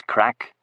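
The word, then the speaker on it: craic: I asked him, using the Gaelic word for fun or happening, which is pronounced the same as crack, so you could see how it could lead to confusion in some circles.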